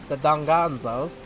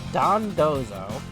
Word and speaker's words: Dondozo: Believe it or not, Slowpokes, as well as the Dongonzos, I hope I pronounced that right, they give great HP stats.